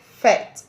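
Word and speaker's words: fête: It ends in letter E, a silent letter E. So, it is categorized to be a feminine word in French language. Let's make a sentence with this word fet.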